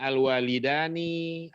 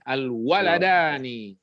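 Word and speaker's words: الوالدان: Dan bacanya jangan alwalidani, alwaladani. Ini tulisannya mulai dibacanya udah.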